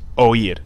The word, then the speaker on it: oír: Then we have the verb oír, to hear, which would have an accent on this I, and this is pronounced oír, two syllables.